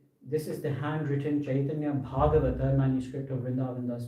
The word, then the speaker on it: Chaitanya: And that CA it's a particular type of way of reading Sanskrit, is pronounced Ch. Right? So if you read a CA in Sanskrit written inside some of the books in English transliteration, the pronunciation is Ch.